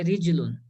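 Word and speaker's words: رِجْلٌ: یہ را پر جو ہے رجل میں زیر ہے اور جیم پر جزم ہے اور لام پر تو پیش ہے ہی.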